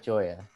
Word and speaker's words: Joya: no it's it's it's it's like goya but joya i know i get